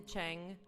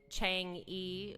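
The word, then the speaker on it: Chang'e: It's the Chang, but it looks like Chang-E, which some people have said. But if you learn how to pronounce their words right, it's Chang.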